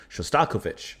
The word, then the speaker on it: Shostakovich: Shostakovich. I'm supposed to put a little bit more on the the co. Shostak- Shostakovich.